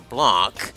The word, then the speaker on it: Blanc: So the next episode, we're actually going to start up with Blonde's story, or Blanc. I know I keep calling her Blonde, but that's how some people pronounce it.